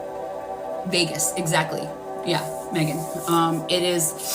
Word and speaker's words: vagus: It's spelled V A G U S. I'm not doing it justice by the way I'm describing it. I would look it up. Um, and that's Vegas.